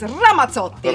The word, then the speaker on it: Ramazzotti: Ramazzotti. Which, obviously correctly pronounced is Ramazzotti.